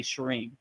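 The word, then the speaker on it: Shreem: Uh shalem I've never really heard but they're probably trying to say shareim. So shareim means like uh that is Luxmi's ba mantra her direct sound syllable. So that goes when you're trying to attract abundance wealth and prosperity you would say shim.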